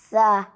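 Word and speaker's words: ث: And you try to slightly bring the tongue out in between the upper and lower incisors. And so with that, you will be able to pronounce tha in the best way.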